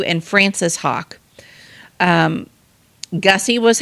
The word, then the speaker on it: Haak: uh name um was August Hawk Jr um and Hawk is spelled h a a k he was a sergeant